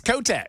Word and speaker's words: Kotek: Tina Tina Kotch. I might be mispronouncing it. Is that Am I saying it wrong, Ken? There's not an X on the end of that name. Oh, her name is It's Kotek.